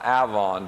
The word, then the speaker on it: Avon: Stratford-upon-Avon, or Avon, depending on how you pronounce it.